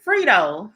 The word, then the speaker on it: Fredo: now but I child so frito phreak phreak freedo that's how you say it frito frito Cuomo